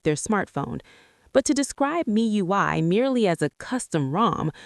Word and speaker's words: MIUI: This was Miui, pronounced Mi UI by its creators.